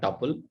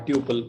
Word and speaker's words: tuple: which is a tuple this called tuple okay or tuple whichever way you want to pronounce it duple okay the tuple